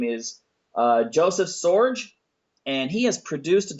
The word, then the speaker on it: Sorge: I mean, your name rhymes with George, and Right. that's kind of, but it's Joseph Sorge.